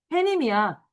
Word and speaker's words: 해님: 그럼 발음도 뭐야? 이대로 읽어야 돼. 어떻게 읽어? 어, 해님이야. 이거 서열식 넣어서 해님이라고 읽으면 안 된다, 얘들아. 해님이야.